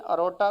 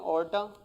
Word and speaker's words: aorta: इसे कुछ प्रोनाउंस करते हैं अरोटा, कुछ करते हैं ऑर्टा।